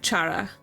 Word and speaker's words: Cara: dear oh how cute but yeah I'm I'm saying it wrong it's it's Chara the name Cara uh